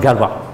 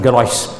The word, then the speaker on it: Galois: is perd Gao is but the French have a tendency to ignore watts of consonants so mispronounced Galva which is something I when I first saw the name of course I pronounced his garage and much later I learned the correct translation right you met people